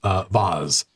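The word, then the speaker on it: Voz: And the dwarf that runs the place, Vaz, V-O-Z, walks up, not V-A-S-E, pronounced in a posh accent, but V-O-Z comes over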